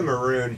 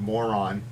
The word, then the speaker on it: moron: Interestingly enough, I didn't realize until a few years ago that when Bugs Bunny says "what a maroon," he's mispronouncing the word moron.